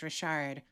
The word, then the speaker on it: Richard: anybody to know that r i c h a r d is pronounced Rashard but once I tell